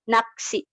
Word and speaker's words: 낚시: bacim tadi yaitu siot, yang dimana siot ini dalam penulisan seperti biasa, siot biasa, tetapi dalam pelafalannya dilafalkan secara lebih keras atau fortis, yang dimana pelafalan keras itu ketika dilafalkan tidak terdapat udara yang keluar. seperti contohnya dibacanya naksi, naksi seperti itu.